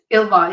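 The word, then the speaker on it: Ylva: I believe, is it pronounced Ilva? Ilva, yeah, it's a Swedish, and it's the Swedish word for female wolf.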